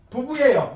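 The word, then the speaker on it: 夫妇: 두 가지를 같이 읽으면 부부예요. 이거 성조 조심해야 돼요. 잘 이거 발음하기가 중국어 공부하시는 분들 발음이 잘 안 나올 때가 많아요. 일상하고 사성입니다. 성조는 똑같아요. 후지야 후. 하나는 후 해야 돼요. 일성과 사성. 그래서 후 해야 돼요.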